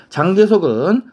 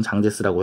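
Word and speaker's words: 蔣介石: 장개석은 한자로는 장개석이라고 쓰고 중국 발음을 읽을 땐 장제스라고 해, 알았지?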